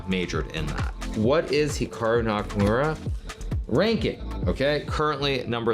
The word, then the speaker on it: Hikaru: to pronounce Hikaru nak now even myself when I pronounce my name it's definitely more Americanized versus Japanese certainly if I was pronouncing it correctly it would be more like Hikaru as opposed to Hikaru but I've spent so